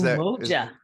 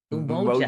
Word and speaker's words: Umoja: Is Umoja. Umoja.